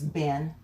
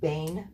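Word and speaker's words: בֵּן: And lots of times it gets pronounced as Ben, but it's pronounced Bane, really.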